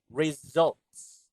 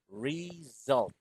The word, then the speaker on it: results: Results. Result. Again, there should be an S sound at the end. Results.